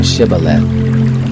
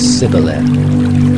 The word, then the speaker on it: Shibboleth: If he said no, then they said to him, Say now Shibboleth. And he said Sibboleth, for he couldn't manage to pronounce it right.